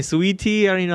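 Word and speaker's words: Saweetie: I know who she is, but I don't know how to pronounce her name. It's such an awkward spelling. Like, Sweetie, whatever.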